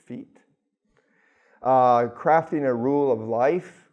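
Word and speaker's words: Fiet: The Sacred Pulse is another good one by April, I think it's Fiat, F-I-E. The I and the E makes it a long E sound, so it's feet.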